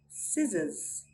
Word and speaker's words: scissors: We do not sound out the letter C when it comes before an I, E, Y, or after an S. Let's look at some examples. Muscle, muscle. Scissors, scissors.